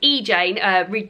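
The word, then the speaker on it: Re Jane: This is actually pronounced E-Jane.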